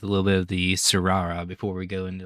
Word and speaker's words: Tsurara: But the Tsurara is Tsura. I'm guessing that's just because the T's in Japanese, I believe, are usually silent. Spell it again. Tsura. Because I know like Suyu Asui from My Hero Academia has a T. Yeah, the T is silent. So I think you're right. Like Tsurara, I believe, is how I would say it.